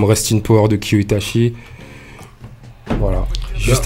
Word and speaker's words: Itachi: Azaya, à aller sur les pages de Kyo Itachi. Donc Kyo, ça s'écrit K-Y-O, Itachi, I-T-A-C-H-I.